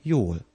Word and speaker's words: jól: Liz's answer was, Köszönöm, jól. Thanks, I'm fine. You already know köszönöm. The first letter in the next word is pronounced like the first and third sound in the word yo-yo.